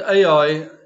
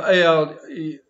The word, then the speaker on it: Ai: The Hebrew word Ai is, or the Hebrew name of the town is spelled with a silent hay up front, meaning the, but it's silent.